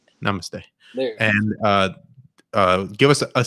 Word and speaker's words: namaste: They know how to pronounce namaste. Yeah, I fucked it up. Namaste. Namaste.